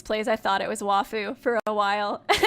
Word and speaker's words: waifu: phosphorous King said Oh WTF did Nico just pronounced a waifu correctly that's true you do say wafu oh yeah laugh it a lot okay I